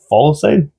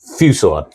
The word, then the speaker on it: fusillade: Blistering Follisade? Fusillade.